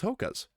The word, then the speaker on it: Hoka: there is a lot of support in these hokas and it's just something that I what's H